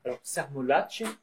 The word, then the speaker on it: Cermolacce: Et puis Michel Sermolacci, pour bien prononcer son nom, parce qu'il y a deux C, et qui est lui psychiatre donc à Marseille, à Saint-Barthélemy.